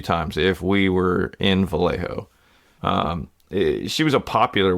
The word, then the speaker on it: Vallejo: so did I get Vallejo right is that how you say that I believe you did you got you pronounced the J as an H you're you're right on